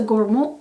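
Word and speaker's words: gourmand: incense so it's a gormo fragrance gormo is the French pronunciation for gormand fragrances meaning perfumes that have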